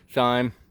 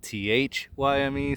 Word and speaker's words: thyme: Thyme, people call it thyme, but it's spelled T-H-Y-M-E, so I'm gonna say thyme.